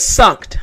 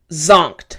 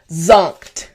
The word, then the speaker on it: zonked: Now let's say the last one I found was sunkt. I'm like, "What is sunkt?" Ah, it's actually zonkt, all right? so pronunciation after me, zonked. One more time, zonked.